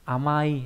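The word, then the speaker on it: 甘い: Cách đọc của chữ này đọc là ama, trong từ amai nghĩa là ngọt, tính từ đuôi y.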